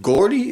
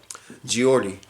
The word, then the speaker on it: Geordie: But True Gordy, is it Gordy? Geordie. True Geordie. Or True Georgie.